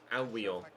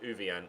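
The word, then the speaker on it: Ouwejan: I had a look on my pronunciation website, and apparently their midfielder is pronounced Albion. The Dutch midfielder is Thomas Albion, rather than Uvian, as I was previously calling him.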